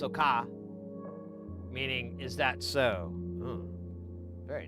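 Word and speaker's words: そうか: Japanese soka, pronounced soka, meaning is that so?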